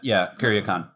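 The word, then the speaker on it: Kuryakin: I am the Napoleon Solo of the show, Paul Getz, and to my left is my Ilya Kuryakan, Travis McMaster. Is that how you pronounce it? Yeah, Kuryakan.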